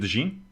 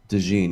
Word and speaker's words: DeJean: And speaking of DeJean, we've been pronouncing his name wrong. Is it DeJean? DeJean, yeah. I called it DeJean, and you corrected me and said, no, it's DeJean.